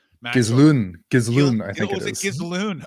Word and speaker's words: Ghislaine: And like Ghislaine, whatever the fuck you pronounce her name. Ghislaine, I think it is. Ghislaine. It's Ghislaine.